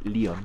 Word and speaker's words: Leon: Ahí está la respuesta de cómo se dice en inglés. Leon.